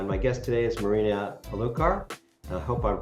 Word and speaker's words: Erulkar: digital marketing uh my guest today is Marina alar I hope I'm pronouncing your name correctly Marina and and thank you for asking oh yes